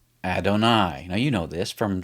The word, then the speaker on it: Adonai: And that's how you pronounce Adonai.